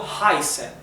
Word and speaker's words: heißen: Como siempre, recuerden que la E y la I se pronuncian AI en alemán. Esta letra que parece la letra beta, la letra griega beta, es una letra del alemán que se llama SZ, ¿sí? Y se pronuncia como una S suave, ¿sí?